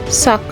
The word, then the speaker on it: sac: So it's pronounced sack.